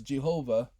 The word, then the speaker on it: Jehovah: have for Hebrews Yahweh the closest to the pronunciation for English we have is G Hova not ja but Jehovah what the G sound y g man because